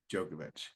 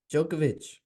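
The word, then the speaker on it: Djokovic: ready no no no keep going keep going jokovic um DJ o c k v i so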